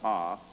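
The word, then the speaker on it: Ovist: There was a theory called the Ovis theory, spelled O-V-I-S-T, pronounced Ah.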